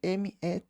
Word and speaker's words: met: E ele aqui conjugado com ela, simplesmente m e t me e não tem a pronúncia do t, ele quala coloca o que sur tábla sobre a mesa.